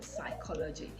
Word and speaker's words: psychology: embargo is very pronounced while p is pronounced as in porridge it loses its sound completely in psychology so you want to